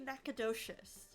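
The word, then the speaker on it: Nacogdoches: Is that Is that pronounced Nacadocious or Nakadoshious? Nachotoas. I think it's supposed to be Nacadocious. I was right.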